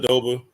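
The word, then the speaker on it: Aduba: Oh, and Uzo, I forget how to pronounce her last name. Adoba.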